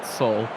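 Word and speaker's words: Seoul: Also, it's not pronounced Seal. Soul. Oh, Soul.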